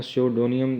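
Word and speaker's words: pseudonym: तो ये ब्रिटिश जिसकी प्रोनाउंसिएशन है सुडोनियम की वो है स्योडोनियम। ज़रा इसको इस वजह से बता दिया गया ताकि ये पी जो है इसमें साइलेंट है, तो ये ज़रा गलती ना करें।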